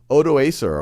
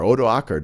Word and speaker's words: Odoacer: the Germanic ruler General odoacer oakar depending on how you pronounce it is able to oust